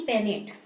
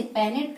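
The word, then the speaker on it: Punnett: आप इसे पेनेट कहिए, पनेट कहिए, पेनट कहिए, ये प्रोनाउंसिएशन का चेंज है, लेकिन जो है वो यही है।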